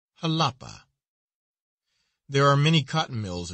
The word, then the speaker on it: Jalapa: flesh is heir to halapa is pronounced as though it were spelled with an h with a soft sound to the a halapa there are many cotton